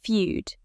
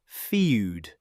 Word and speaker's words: feud: It isn't pronounced feud, it's simply feud. Like few with a d at the end.